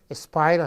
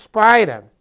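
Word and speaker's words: Speyer: Aí nós temos a dieta de Spira, essa pronúncia Spira realmente, não é Spira, é Spira, em 1529.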